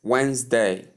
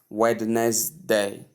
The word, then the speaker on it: Wednesday: So you call it Wednesday. Wednesday. There are two syllables there. As you can see when they w and day not wness day or wness day anyh how you call it. Not three syllables but two syllables in the word Wednesday.